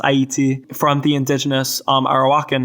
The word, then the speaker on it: Ayiti: They chose the name Haiti um which in in both French and Korean is pronounced Aayiti from the indigenous um Arawakan name uh which I I believe means yeah land of mountains in in Awok.